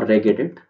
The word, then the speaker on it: regedit: type for wedge or regedit hard g or a soft g any anything of your choice and but if you